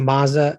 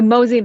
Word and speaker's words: MOZI: I know that you mentioned, I think, is it MOZA, or is that, am I saying that correctly? MOZA method? The MOZI Method.